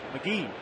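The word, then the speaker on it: McGehee: you've really made it not MC G or MC or M it's McGee pops it up behind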